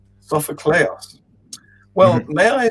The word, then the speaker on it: Sofocleos: So it's Angelos with a hard G. Angelos, right? That's correct. And then Sophocleos. Sophocleos.